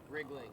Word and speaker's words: Riegling: Yeah, Riegling. did I say it right? Riegling.